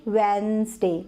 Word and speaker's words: Wednesday: अब देखिए वेडनेसडे, तो इसमें डी जो था वो साइलेंट था, तो अभी हम उसमें डी ऐड करेंगे।